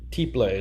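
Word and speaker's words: tiple: this was her father's instrument i believe and t play is spelled t-i-p-l-e there's a lot of resources out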